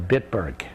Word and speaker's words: Bitburg: and went into combat in the Battle of Bitburg, which became famous in Ronald Reagan's. Can you spell that?